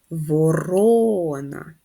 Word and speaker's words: ворона: і шостий о голосний поставимо наголос ворона наголос на другий склад давайте порівняємо друковану та